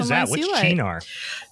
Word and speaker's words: Cynar: Yeah, but it's pronounced Chinar.